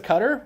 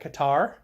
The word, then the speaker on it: Qatar: We had the Princess of Qatar once. Apparently lots of people pronounced that Qatar. But they pronounced it Qatar, and I wasn't going to argue with them because they were escorting the princess.